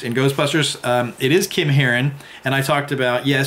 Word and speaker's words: Herrin: I had forgotten Kim Harun h er rin not herring as i pronounced it in the other video was in moving violations